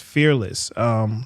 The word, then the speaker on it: Fearlyss: Now, your business, Fearlyss, where did that come from? Did I say that wrong? No, you said it right. Fearlyss, I did say right?